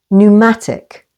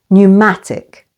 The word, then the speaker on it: pneumatic: the first syllable solemn p is silent before n as in pneumatic stress on the second syllable pneumatic pneumonia stress on the